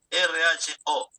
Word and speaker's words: Rho: ¿Cómo se pronuncia? R-H-O.